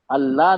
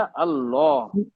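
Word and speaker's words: الله: तासीर है वर्ड में अगर हम सही प्रोनाउंस करेंगे तो अल्लाह नहीं है बेटा अल्लाह अब जैसे सब लोग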